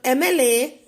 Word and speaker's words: MLA: suppose NRI is given, so N is a consonant, but since the pronunciation is N, that is EN, or MLA, that is EM, so before that an MLA and NRI we will write instead of A.